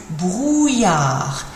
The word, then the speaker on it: brouillard: Il y a du brouillard. Il y a du brouillard. Difficult looking word to pronounce that. Double L in a word is usually pronounced like a Y sound.